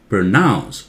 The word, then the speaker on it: pronounce: it aloud now listen pronounce Pro very soft nouns louder pronounce when you say powder